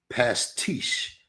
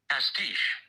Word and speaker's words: pastiche: this right because it's spelled P A S T I C H E. My guess pastiche, but I'm also looking at the way you're supposed to pronounce it. Pastiche. Pastiche. I was correct.